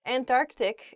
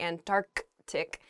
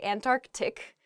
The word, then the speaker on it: Antarctic: really oh I guess when you're saying this word quickly you might leave out that first C in the antartic so don't say that don't do that say Antarctic the the very very